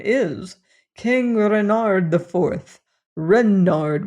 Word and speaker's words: Renard: Renard with accent on the Ren."